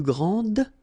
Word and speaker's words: grand: for the masculine, grand, so you don't pronounce the final D, will be exactly the same as the plural form for the masculine, grand. You don't pronounce the final D, you don't, the D here, and you don't pronounce the final S.